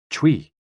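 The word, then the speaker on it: chui: associated with the lungs c-h-u-i pronounced like tui with a forceful exhale which is also associated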